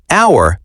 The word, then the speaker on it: hour: Yes, in hour, the letter H is silent. We do not say hour, we say hour. That is a great pronunciation tip. The H is completely silent.